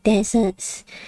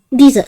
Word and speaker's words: dessert: I was gonna ask for Arcade Standy to post next to deserts. Dessert, sorry, dessert. I always mess up the pronunciation for desert and dessert.